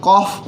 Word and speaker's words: cough: इसको आप कॉफ पढ़ेंगे। तो यहाँ पर अगर हम OUGH की बात करें तो इसका क्या उच्चारण हो रहा है?